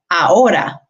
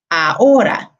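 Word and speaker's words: ahora: something so for example when we say aora aora okay you can hear that oh in the middle is the strongest and it's the second to last vowel because the last vowel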